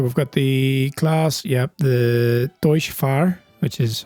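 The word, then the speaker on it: Deutz-Fahr: So we've got the class, the Deutsche Fahr, which is how you pronounce it apparently.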